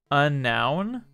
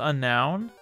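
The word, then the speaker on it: Unown: know my favorite alphabet a noun is it really pronounced unknown i've always pronounced them unknown a noun is it really pronounced a noun i've said unknown my entire life what i mean i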